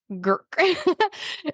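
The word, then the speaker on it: Grk: of Cula in Dalmatia is girk g r k girk it doesn't you're like there should be another way to pronounce this no it's gir this is primarily grown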